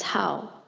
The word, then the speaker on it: 好: The character is pronounced as how.